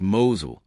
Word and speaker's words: Mousehole: Number 11, Mousehole, Cornwall, pronounced "Mowzul".